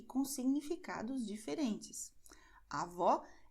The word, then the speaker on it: avó: A avó é a mãe da minha mãe. Avô é o pai da minha mãe. Então, avó é um som aberto, avô é um som fechado.